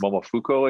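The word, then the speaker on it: Momofuku: creator of i think it's momofuco i think is what it's pronounced um in new york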